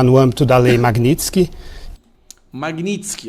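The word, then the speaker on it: Magnitsky: Magnitsk, ó, ele pronunciou certo, tá gente?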